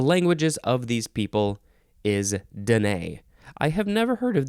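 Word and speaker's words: Dené: the next word is Danae or Danae but the emphasis is still on the second syllable this is spelled capital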